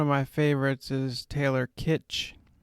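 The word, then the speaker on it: Kitsch: of actors one of my favorites is taylor kitch kitch i'm not sure you pronounce it but spelled k-i-t-s-c-h or something like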